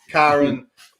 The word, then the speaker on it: Kyron: Kevin Kyron's, like Right, Byron yeah. with the K is what you told us that night. Exactly. Kyron, because Remember when we